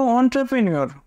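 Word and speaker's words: entrepreneur: protein option B দেখো অন্ট্রপ্রেনিউর খুব important এই প্রশ্নটা দেখো শুরু হচ্ছে ই এন দিয়ে তারপর টি আর ই এমনি উচ্চারণ করলে কি হয় এন ট্রি কিন্তু উচ্চারণ হবে অন্ট্রা তারপর প্রে পি আর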